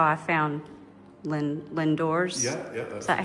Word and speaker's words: Lindores: when I was, and that's how I found Lindores. Yeah. Is that how you pronounce it? The church by the water. Yeah. Lindores.